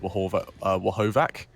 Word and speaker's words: Horvath: And a bit of a note to those watching, and well as casters, VR Horvath, his name is pronounced Wahovac.